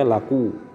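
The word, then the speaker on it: لَقُوا: Summal ya'u, berikut ya itu litiqaiha sakinatun ma'al wawi, karena bertemunya dalam keadaan sukun dengan waw, sehingga menjadi laku, disebutlah dia, diucapkanlah dia laku.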